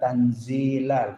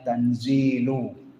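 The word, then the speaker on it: تنزيل: Sebagian ahli tafsir membaca ayat ini menggunakan kata tanzilal pakai fathah. Sebagian ulama mengatakan membacanya tanzilu.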